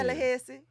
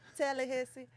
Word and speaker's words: Tallahassee: Tallahassee. Don't do that. That's how you say it. I am from Tallahassee, Florida. Stop. Tallahassee.